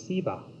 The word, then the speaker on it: Shiva: Now, even the word Shiva can be pronounced differently. In the South, for example, it is Siva. So either Shiva or Siva is correct.